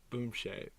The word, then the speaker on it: Boumtje: Boomshay. Okay. BOOMSHA. No, E. BOOMSHAY is the way that they enunciated it.